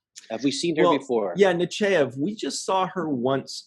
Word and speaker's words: Nechayev: but I said no I just call her Admiral Nechayev because that's what Picard calls her most people call her Nechayev she's in deep in